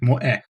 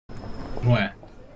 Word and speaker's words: moe: Pronounced Moe. Moe.